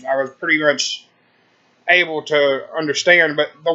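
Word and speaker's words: Wyrd: it smelled w-why rd does that not sound like weird to anybody at home no it's pronounced word something is up with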